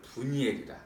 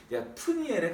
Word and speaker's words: 브니엘: 그러면서 거기에게 야곱에게 축복을 하고 이제 야곱이 그 땅 이름을 분이엘이라 하나님의 얼굴을 보았으니까 하나님의 얼굴이란 뜻을 갖고 하나님과 대면하여 보았다 이런 뜻으로 분이엘이라 원래 발음은 푸니엘에 가깝습니다.